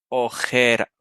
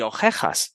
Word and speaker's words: ojera: y la J es decirles que pronuncien oreja m oreja y también ojera o sea orejas y ojeras Y si te fijas van a pronunciar las dos palabras si lo pronuncian mal van a sonar igual van a decir ojej y ojej van porque simplemente se